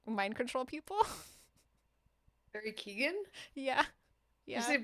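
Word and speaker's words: Barry Keoghan: Um, this Irish man who I always call Barry Kevin, even though that's not how you say his name. I can never remember how you say his name, but he can like mind control people. Barry Keegan.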